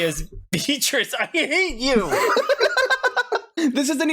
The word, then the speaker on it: Beatrice: Look, Beatrice, we say Beatrice.